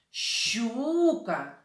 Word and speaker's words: щука: впіймав окуня щуку а наголос у цих назвах ри падає на перший склад щука окунь коли лука і лука